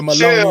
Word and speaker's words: Maloney: Make the Maloney and baloney. Make the Maloney rhyme with baloney, because you know baloney ain't spelled like that, but he spelled it right.